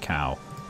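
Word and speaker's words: Caux: Someone told me to pronounce it Co, not Cow. But, It's cow.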